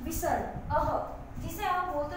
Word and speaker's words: विसर्ग: विसर्ग का उच्चारण व्यंजन ह के समान होता है, ह आधा ह। इसका तो था अंग, जो कि नासिका से बोलते हैं। अब इसका है अह।